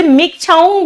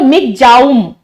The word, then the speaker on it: Michaung: है मिक छाऊ वैसे मिक छांग बताया जा रहा है लेकिन अगर हम बताए कि इसका एक्चुअली इसका क्या नाम है वो है आपका दिस इज कॉल्ड मिक जाम ठीक है स्पेलिंग जो